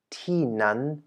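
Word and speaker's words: ที่นั่น: Ti ni, which means here or this place, and tinan means there or that place. And the reason why we have within the second expression first a falling and then a high-pitched syllable is going to be explained right now within a special use.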